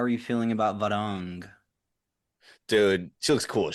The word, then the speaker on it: Varang: Also, the actress who's playing Varang, I heard is their name recently, so I'm correcting myself as well.